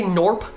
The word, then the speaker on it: Gnorp: I'm going to say Norp. Gnorp. Norp. Norp like gnome. I'm going to say norp like gnome.